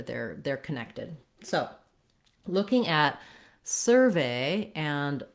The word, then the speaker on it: survey: So, looking at survey and surveyor. For survey as a noun, we have first syllable stress, and so this sur syllable is stressed, and it's written with UR in this word.